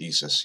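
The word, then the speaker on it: ISʘIS: It's pronounced ESIS, yes, I know. I don't know why it's not ISOIS, but whatever.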